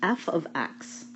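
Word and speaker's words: f(x): So this is pronounced f of x.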